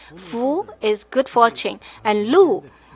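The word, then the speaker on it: 禄: The deer pronounced the same in Chinese as prosperity, and also authority.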